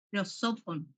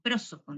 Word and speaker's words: prosopon: Persona viene de el término, como tienen ahí, prosopon o prosopon, depende de cómo lo quieran pronunciar, ¿sí?